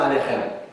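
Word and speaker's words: עליכם: faut, mais c'est Shalom Aleichem. C'est un CH qui se prononce dans le fond de la gorge, là, qui sonne comme un R un peu.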